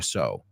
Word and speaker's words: sow: So, S-O, and so, coser, S-E-W, se pronuncia so. ¿Y la otra palabra? Right? The second one, sembrar, S-O-W, so.